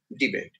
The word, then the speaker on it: debate: debate on this issue there is a verb and therefore the accent is on the second syllable date so debate don't debate on this issue